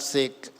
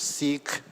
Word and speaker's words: Sikh: even uh Richard asked me how do you pronounce it's seek s i h it's not sick it's seik uh so the interesting thing is that uh